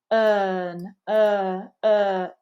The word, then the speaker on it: earn: lips arise commit turn you can see that we're not pronouncing the UR unless it comes before a vowel phoneme we want it to be very lazy turn earn really neutral with that mouth then again we get